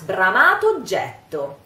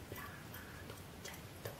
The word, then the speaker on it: bramato oggetto: So, the funny thing now is that we have to pronounce bramato oggetto. The magic is done. The two words become one and we pronounce just one O.